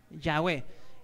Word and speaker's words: Yahweh: ¿Qué pronuncia? Yahweh.